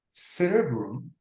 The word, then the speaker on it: cerebrum: But in cerebrum, the pronunciation is in the first syllable, cerebrum, and cerebrospinal in the adjective.